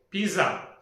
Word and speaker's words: pizza: Pizza? No. It is called as pizza. A little bit of t sound is there after pizza.